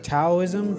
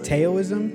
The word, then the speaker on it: Taoism: an Eastern philosophy called taoism taoism you pronounce it either of those ways but his teachings often